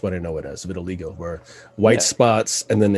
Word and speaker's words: vitiligo: so he claims that he has vertiligo i think is how it's pronounced uh vitiligo for okay i knew